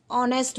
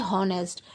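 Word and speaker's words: honest: क्योंकि अगर हम हिंदी में अगर इसे प्रोनाउंस करेंगे तो इसे हम ऑनेस्ट बोलेंगे, ना कि हॉनेस्ट। एच इसमें यहाँ पर साइलेंट रहता है।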